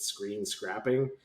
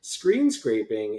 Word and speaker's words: screen scraping: had a colleague years ago who used to mispronounce it screen scrapping. And then they said it so long that way that nobody corrected them, and it would have been weird if we corrected them. But screen scraping is this process by which you or somebody